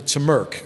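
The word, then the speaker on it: TMRC: Model Railroad Club uh the members called the turmeric is the way they pronounce the acronym there and uh if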